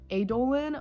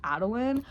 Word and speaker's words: Adolin: I always said his name as Adolin, but I recently found out that it's Adolin.